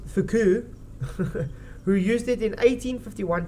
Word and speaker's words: Foucault: for the French physicist Jean Foucault pronounced fuku who used it in